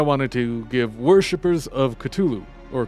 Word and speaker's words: Cthulhu: Today I wanted to give worshippers of Cthulhu, or Cthulhu, depending how you say it, the great dreamer's name.